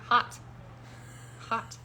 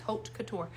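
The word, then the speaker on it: haute couture: what is it and she would say it's hot and I'm like hot cut I don't know how to say that until she finally was like like hooked Couture and then I had to say it like six times hot Couture so now I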